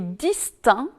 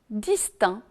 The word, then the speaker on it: distinct: le elle est prononcée attention aussi aux mots aspect est distinct dans lesquels ni le sait ni le thé ne sont prononcés alors qu'on dit direct